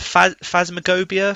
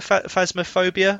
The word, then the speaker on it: Phasmophobia: don't know how to say this is it phasma gobia phasmophobia oh yeah yeah i know that one have